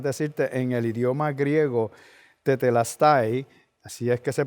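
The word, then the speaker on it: τετέλεσται: Lo que quiere decir consumado es para más decirte, en el idioma griego tetelestai, así es que se pronuncia, pero quiere decir, según el diccionario, finalizar algo, concluir algo, lograr algo, pagar algo, realizando algo y cumplido.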